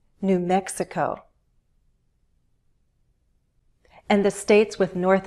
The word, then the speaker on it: New Mexico: For example, all the states with new have stress on the syllable that immediately follows. New Hampshire, New York, New Jersey, New Mexico.